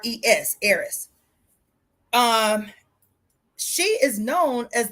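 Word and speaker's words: Eris: the God of War arys was his sister Aris is the sister of Aries okay and arys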